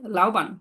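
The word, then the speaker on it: 老板: প্রথমটা সেকেন্ড টোনে বলে ওকে তাড়াতাড়ি হইতেছে, লাও পান, লাও পান, যদি এভাবে বলে লাও পান তো সময় লাগতেছে না। জি মানে দুইটা থার্ড টোন পাশাপাশি থাকলে প্রথম টোনটা সেকেন্ড টোনে বলবো।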